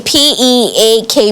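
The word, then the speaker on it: pique: p k p q it's actually pronounced as peak okay yeah meaning you're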